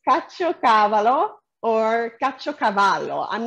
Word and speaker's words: caciocavallo: So I guess Donata does, because she says the second way you pronounced it was right. Caciocavallo.